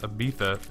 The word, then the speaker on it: Ibiza: It's pronounced Ibiza, Nicki Minaj.